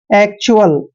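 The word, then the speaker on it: actual: और सी को कै पढ़ते हैं और टी यू ए एल चारों लेटर इकट्ठे आ गए तो इसको हम च्यूअल पढ़ेंगे, ऐसे च्यूअल। एक्चुअल, एक्चुअल क्या होता है भाई?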